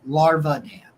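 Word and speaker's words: Larvadain: Um, Gage Lavarden. Uh, Larvadan. That's it. Larvadan is how you say it.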